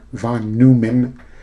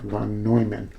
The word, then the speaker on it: von Neumann: It's not von Neumann, Neumann, N-E-U. You would say that, von Neumann.